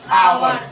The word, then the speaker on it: hour: जैसे देखिए आवर, HOUR, किससे शुरू हुआ है? एस से ना। जब इसका उच्चारण करेंगे तो क्या होता है? आवर। क्या बोलेंगे? आवर।